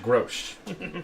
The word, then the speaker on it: Grosh: I want to forget consistently the pronunciation of it. Grosh. Grosh. Like the beer. Grosh. Yeah. Grosh. Almost like grosh, but not quite.